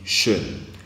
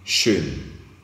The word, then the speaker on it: schön: Nous avons aussi schön. Lorsque c'est le O tréma que nous rencontrons, ici la prononciation change. La prononciation ne devient plus O, mais la prononciation devient E.